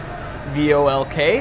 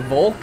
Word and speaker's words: Volk: Yeah, and V is like an F. It's pronounced like an F in German. So like in the Reichstag, it says Dem Deutschen V-O-L-K. And you don't pronounce it Volk, you pronounce it Volk.